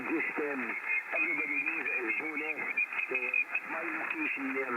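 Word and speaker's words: Bo'ness: A little town called Bowness.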